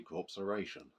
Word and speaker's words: Corpseration: Oh yes, I didn't pronounce that wrong. It's actually corpseration.